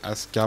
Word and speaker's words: Asuka: Alors oui, je dis Asuka parce que normalement, les Japonais, je pense normalement, ils prononcent comme ça si elle est japonaise.